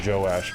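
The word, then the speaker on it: Joash: to uh josh his it's not josh it's josh and joe his father or joe ash yeah his father how do you spell it j-o-a-s-h yeah i would say joe ash anyway wild dog that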